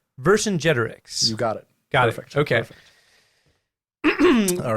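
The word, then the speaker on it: Vercingetorix: know the word is pronounced the name is pronounced verse in generics verse in generics you got it okay all right we're gonna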